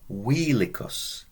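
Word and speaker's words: vilicus: the overseer obest obest wheelus remember V is a w and it's a long e OBS wheelus well the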